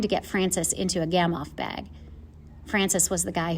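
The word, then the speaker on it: Gamow bag: We're trying to get Francis into a gamoff bag. Francis was the guy who grunted at the noodles. A gamoff bag, pronounced Gamoff, was invented by Igor Gamoff in the late 1980s and has saved a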